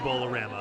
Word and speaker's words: Bowlarama: at bowlarama in portsmouth apparently it is pronounced bowl of rama i talked to bart